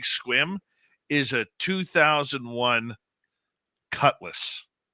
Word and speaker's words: Sequim: it here there's Sequim s EQ UI M pronounced Sim no it's pronounced squim really yeah how many Indian names do we